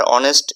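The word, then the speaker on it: honest: আর অনেস্ট এই pronunciation ভাওয়েলের মতো, তাই আমরা এর আগে অ্যান দিব।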